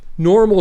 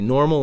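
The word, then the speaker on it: NORML: clarify about Kansas normal normal stands for the National Organization of reformation of marijuana laws so it's not normal as you would normally spell it it's n o rml so if you want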